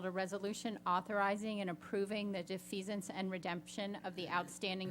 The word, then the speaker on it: defeasance: Bill Volgen, our CFO, presented a request for authorization of a cash defiance. How do you pronounce it? Anyway. Defeasance.